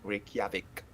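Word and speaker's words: Reykjavík: a little word like tak, like how to pronounce the J, because you say yeah. It's Jal. not the- Yeah, like Reykjavik.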